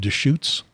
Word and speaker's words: Deschutes: Sarah White, operations manager for, how do we pronounce that? Is it Deschutes?